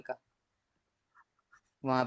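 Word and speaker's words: Kyiv: Ukraine की जो capital है वो कीव प्रोनाउंस किया जाता है।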